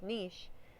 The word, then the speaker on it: niche: And your niche, also sometimes pronounced niche, is the role you play in the habitat or your job.